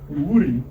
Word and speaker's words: Iwuri: Well, I'm just asking, because I would say it Iwuri, Yep. but I don't know if that's correct or not. Yeah, that's correct.